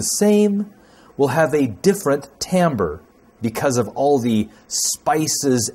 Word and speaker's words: timbre: harmonics and overtones and i know it looks like the word should be pronounced maybe timbre but it's not it's Tam bird or Tom brah if you want to